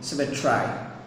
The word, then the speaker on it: symmetry: Again, we should say symmetry, but to rhyme with I, I'm saying this thing symmetry. I'm pronouncing it symmetry.